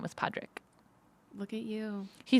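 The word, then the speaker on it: Pádraig: why tell me because the way you say Patrick in um Irish is Podrick but I still don't it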